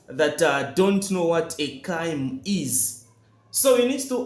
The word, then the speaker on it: chyme: I get to pronounce this as chyme.